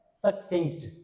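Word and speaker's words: succinct: इस वर्ड का उच्चारण क्या चीज होता है, सक्सिंक्ट, ठीक है ना।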